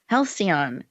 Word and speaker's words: Halcyon: She is the founder of, and I want you to help me with this pronunciation. Is it Halcyon Elder Care? Halcyon Elder Care.